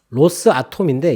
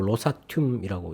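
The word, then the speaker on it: Rosatom: 근데 곧바로 미국에서 러시아 원자력 그 회사 로사튬이라고 하는 로스아톰인데 이걸 붙여가지고 로사튬이라고 이렇게 발음을 하더라고요.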